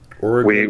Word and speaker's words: Oregon: Oregon. We call it Oregon. Oregon. Okay. Yeah. I was like Oregon. A lot of people say it like that.